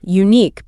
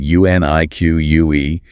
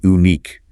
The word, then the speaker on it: unique: A lot of learners look at the spelling, U-N-I-Q-U-E, and want to say unique, because in many languages, the letter U makes an oo sound. But in English, it has that hidden Y sound at the start.